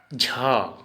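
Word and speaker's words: ঝ: अब झ, हिंदी में झ, झ को हम असमिया में उच्चारण बोलेंगे झो, लिखते टाइम ऐसे लिखेंगे और उच्चारण बोलेंगे झो।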